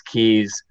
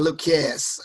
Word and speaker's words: Kues: and I labeled these keys luke's keys and the mnemonic term comes off of my first name for the words and then keys my last name is K u es but it's pronounced key so trying to help